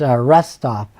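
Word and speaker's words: Retsof: them, but it's not, you don't pronounce it Foster, New York, it's Restop. So the people wanted to honor the family, but they went and spelled Foster backward as a joke. And so it's called Restop, R-E-T-S-O-F, Restop, New York.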